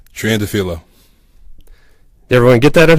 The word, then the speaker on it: Triandafilou: So, Paul, how do we pronounce that last name? Triandafilou.